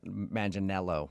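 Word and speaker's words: Manganiello: Uh, because we talked to him and he told us that a lot of people say he looks like Joe Mangel Maninello, right?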